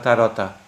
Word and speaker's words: tarot: Uh, oh, in Poland you said in Polish they say tarot actually. Karta tarot. They actually say that in Polish. So I just pronounced it in Polish.